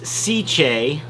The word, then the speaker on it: Sicce: which i really like now i've learned how to say it it's cj cc that's how you say it uh but this is